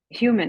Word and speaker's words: Human: I get back to human human oh okay the H it's h h and a U Get